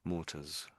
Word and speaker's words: mortars: So, if even if it spelled E R or O R, we'd probably say it the same way. Mortars.